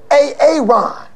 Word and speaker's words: Aaron: you say it the first time i said a-a-ron because it's pronounced aaron you done messed up hey ron